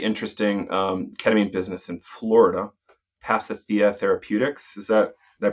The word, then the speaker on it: Pasithea: Marques, you are running a pretty interesting ketamine business in Florida, Pasithea Therapeutics. Did I pronounce it right?